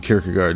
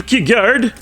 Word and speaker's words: Kierkegaard: I shall be today performing a reading for you from my phenomenal essay, Desolation, Redemption, Kierkegaard, Nietzsche, and versus the Enlightenment.